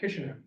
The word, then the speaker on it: Kishinev: Kishinev.